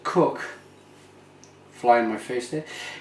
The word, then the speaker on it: Coke: Known as a Coke, pronounced cook.